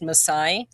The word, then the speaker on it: Maasai: In 1999 and 2000, she lived in Tanzania where she taught English at the first school for is it pronounced Messiah. Correct. Yeah. Messiah girls in East Africa.